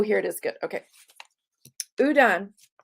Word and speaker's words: Houdon: Houdon is how that's pronounced. Houdon, I think.